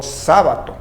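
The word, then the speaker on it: Σάββατο: Kyriaki, y el sábado, al cual lo pronuncian como sábato.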